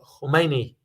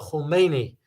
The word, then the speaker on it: Khomeini: the current president, because the current president name almost spelled the same, but is pronounced differently. The previous one who passed away, Ruhollah Khomeini. The current one is Ali Khamenei. So two separate pronunciations because two different people here.